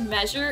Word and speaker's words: measure: I'm like, you guys are saying like a j sound, j, j.